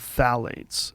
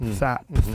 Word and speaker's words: phthalates: is a thing called phthalates. It's spelled with a P. P-T-H-P. Phthalates. I think I've seen that before.